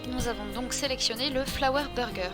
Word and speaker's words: Flower Burger: Et nous avons donc sélectionné le Flower Burger. Je le prononce à la française, comme ça met tout le monde d'accord.